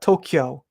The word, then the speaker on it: Tokyo: Yeah, see, people hear Tokyo. There's a K sound. I don't say the A at all, Tokyo. So if you're hearing ka, it's your ear, Tokyo, like Kyoto, right?